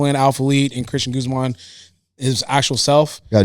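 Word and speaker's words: Guzmán: with an accent on the A. Guzman. How do you say it? Guzman.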